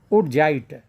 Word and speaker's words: wurtzite: Zinc blend, and other is woodgite, WURTZITE. Woodgite, T is silent, woodgite.